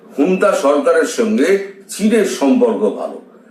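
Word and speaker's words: junta: ও জুন্তা বাহিনীকে যেমন করছে, হুন্তা বাহিনীকে লেখা হয় ঝুন্তা, যেমন ঝুন্তা, কিন্তু উচ্চারণটা করে হচ্ছে হুন্তা। অনেক পরে আমি জেনেছিলাম যে হুন্তা, আসল উচ্চারণটা হচ্ছে হুন্তা।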